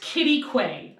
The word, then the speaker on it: Quitaque: So Pole Canyon is located about 8 miles south of a town called Quitaque. Oh yeah, how do you spell that? You asked the wrong person. So Q-U-I-T-Q-U-I-T. It's pronounced Quitaque.